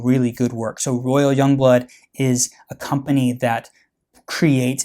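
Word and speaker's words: Jongbloed: titles and names royal Young Blood Royal young blood or simply Young Blood spelled with a J it is the Premier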